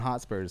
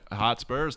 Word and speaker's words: Hotspur: Yeah, I'm all in on Hotspurs, dude. Yeah, Hotspurs, Tottenham. That's a good game this morning, I keep man. saying it wrong. Hotspur. It's not the Spurs.